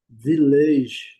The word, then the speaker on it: village: O a com som de i, só e a palavra village, nós falamos vage, né? Village, mas no inglês a pronúncia é vele. Primeira sílaba é bem forte e as e a última sílaba é bem fraquinha. Village village.